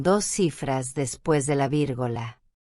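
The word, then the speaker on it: virgola: En español decimos coma. En italiano no se dice coma, se dice vírgula.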